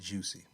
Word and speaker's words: Jussie: They pronounce it Juicy.